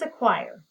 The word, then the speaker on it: acquire: does acquire have two do you hear the schwa sound in the first syllable and then i'm going